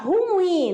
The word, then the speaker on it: ruim: terminada em ai tá ruim ó a palavra ruim nada de falar tá ruim é quando você